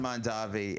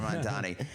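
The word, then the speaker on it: Mamdani: I have met Zoron Mandavi and uh Mandani. I'm sorry. I don't want to say it like Cuomo. Zoran Mandani.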